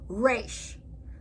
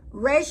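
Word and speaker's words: ריש: Resh. Resh is pronounced like an R, as in road, but Resh in its pronunciation in Hebrew has more of a roar in its pronunciation.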